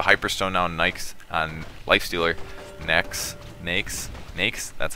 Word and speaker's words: Nyx: Nyx?